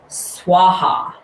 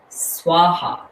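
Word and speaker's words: svāhā: is spelled s-v-a-h-a and this word is swaha swaha and you can hear it it's like onomatopoeia swaha is basically that action of throwing something into the fire releasing swaha and i love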